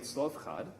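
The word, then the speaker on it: Zelophehad: a man named slovkad which is a very difficult name to pronounce especially if you're reading the english like bible version of how they i think they write zelo pahad or something like that of him it's weird but slovkad is how you say his name and he has five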